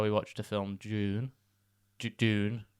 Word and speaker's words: Dune: Dune? How would you say it? I would say June. Yeah, but it sounds like June.